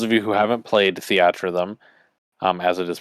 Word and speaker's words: Theatrhythm: It is not called Theater Rhythm. It is called Theatrhythm.